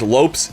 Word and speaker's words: Lopes: Lopes. And lops is how you pronounce it.